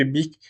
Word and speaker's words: Bic: 1953 que la marque Bic est officiellement déposée, tirée du nom de famille donc de Marcel Beach, mais sans le H pour éviter la mauvaise prononciation en anglais.